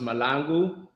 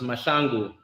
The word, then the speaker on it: Mahlangu: So in America, my name is pronounced Mahlangu, but in South Africa, it's pronounced Mahlangu in the Zulu culture.